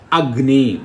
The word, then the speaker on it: Agni: Agni. Fire is the word. In Agni is the word. Ni is always stressed.